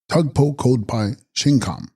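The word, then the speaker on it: Stug-po-bkod-pa'i-zhing-khams: Text stugpo kodpari jinghams pronounced tugpo kodpai shingham thickly formed or densely packed realm i.e.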